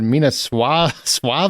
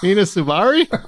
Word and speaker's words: Mina Suvari: You said Mina Suave or something. Suave? Suave? Is she married to Rico Suave? Mina Suvari? Suvari? I was laughing in my head and I'm like, don't interrupt them.